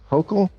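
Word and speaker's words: Hochul: What do you New Yorkers think of how Mayor Eric Adams and Governor Kathy Hokll Yes, you pronounced it right.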